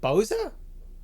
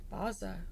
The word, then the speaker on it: Boza: I don't think that's how you say his last name. Boza? No. How do you say it? Baza. Baza? Oh, shit, I think you're right.